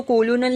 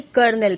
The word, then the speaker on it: colonel: देखो second line में first spelling दी है COLONEL. है ना, तो उसको कोलोनल नहीं बल्कि कर्नल प्रोनाउंस किया जाता है.